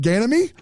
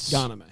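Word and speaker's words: Ghanimé: Ganemy. Well, there you go. You get it. There's an accent on the E. Yeah, Patrick. That's the key. Oh, so it's instead of a E, it's a A.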